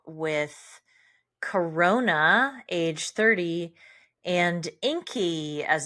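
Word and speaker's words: Ingi: close it out with Corona age 30 and Inky as it's pronounced but but it's spelled iing age 38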